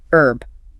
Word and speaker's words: herb: American English usually drops the H. Herb. Like herb. Right. British English almost always pronounces it. Herb. With the H sound.